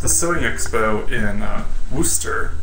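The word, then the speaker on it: Worcester: was just at the sewing expo in uh wooster wooster i'm not very good at saying it it's spelled worked worse worchester but it's not pronounced that way here in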